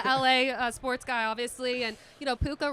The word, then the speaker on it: Puka: Because you're a LA sports guy, obviously, and Puka rhymes with Luka.